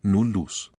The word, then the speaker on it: nullus: La doble L se pronuncia en separado, ejemplo ille, nullus.